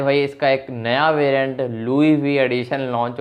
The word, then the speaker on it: Loewe: Techno caiman 30 Louis we addition, Louis Louis नहीं Louis we, LOEWE, यहाँ पर ये स्पेलिंग लिखी हुई आ रही है।